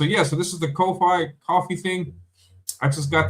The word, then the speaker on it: Ko-fi: I would pronounce it Ko-Fi, coffee.